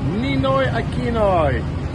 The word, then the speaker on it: Ninoy Aquino: Ninoy Aquino. Ninoy Aquino.